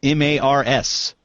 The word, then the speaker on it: Meagher: your name spelled Meagher why you pronounce it Mars. Well, the short answer is I don't know. And the long answer is I really have no idea. But it's just, I don't know, it's just an Irish name, and my family is very Irish, and it's just pronounced like that.